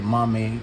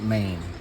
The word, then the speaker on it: MAME: 2 capcon 3 MIM which I called it Mame in one of my videos of a few posts back but it's pronounced main you have PC engine you have family computer